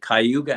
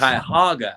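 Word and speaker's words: Cuyahoga: Cleveland comes up is is it kuga Avenue kyoga uh kayoga thankk you yes kaga Avenue uh I'm always marveled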